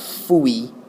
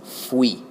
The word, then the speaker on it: fui: It's not fui, like fui. It's fui. Kind of pronounce it like, put an F in front of the word we, and you get fui.